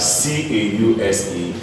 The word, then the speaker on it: cause: So common words where we have S pronounced as Z. Common words, we have C-A-U-S-E. This is pronounced as cause.